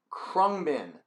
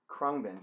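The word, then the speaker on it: Khruangbin: not gonna be able to spell it or pronounce it but it's called qua krungbin krungbin can you see it k i don't know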